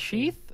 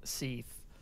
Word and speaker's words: Seath: Sheath? Seath. Sorry. I'm pronouncing it like Sean.